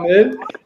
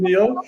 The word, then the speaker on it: Mille: So it's hilarious when you guys pronounce Richard Mille in English, right? You call it Richard Meal, so it's like a happy meal.